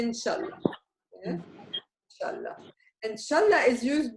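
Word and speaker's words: إن شاء الله: Which means God willing, which is officially it is Insha'Allah. But in Lebanese dialect, we say Inshallah.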